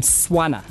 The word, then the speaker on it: Swana: Yami, how do I pronounce his name? Swana.